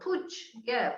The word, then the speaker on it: Puig: it seems to be getting better, and hopefully Puge, is that how we pronounce it? Puge. People quite often say to me, how do you pronounce his name? And I say Puge, but it's Valencian, you know. Puig.